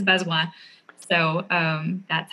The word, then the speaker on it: Bazoin: so best one my last name is b-a-z-o-i-n uh it's french a lot of people say oh what i don't understand how how do you say that is bezoi so um that's how